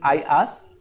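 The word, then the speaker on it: IaaS: in a different manner it is i ask and sas s-a-a-a you need to read like that and pass that's the best way of pronouncing it so i ask sas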